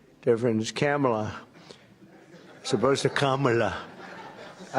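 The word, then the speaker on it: Kamla: Cam as opposed to calm.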